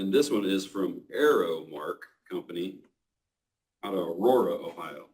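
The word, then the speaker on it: Aero-Mark: were interested but word Arrow Mark Arrow Mark uh it is spelled a e r o dash Mark company LLC City uh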